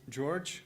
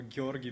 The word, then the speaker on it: Georgi: My name is George, or Georgi, but it's Slavic, so it's quite hard to pronounce.